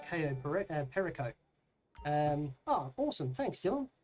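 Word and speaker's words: Cayo Perico: Um, good to know that we've been pronouncing Ko Burico wrong. Apparently, it's KO perico.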